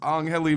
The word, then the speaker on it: Angheli: So that's Angheli, man. Break it down 2 syllables. Angheli.